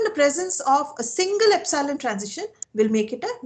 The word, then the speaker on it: epsilon: I'm just writing it down so that you can pronounce it properly. It is epsilon.